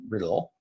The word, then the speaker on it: Riddell: This particular building and its commercial rental properties was developed by whaling captains George Harris and Benjamin Franklin Riddell, or Riddell, depending how you want to pronounce it.